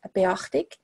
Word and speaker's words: Beachtig: a very, very nice, if you pronounce it in English, it's kind of like beach tick. So I always said it's kind of like being at the beach with a tick Swissness.